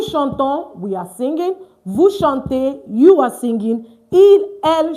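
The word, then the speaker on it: chantent: Vous chantez, you are singing. Il, elle chante. ENT not pronounced.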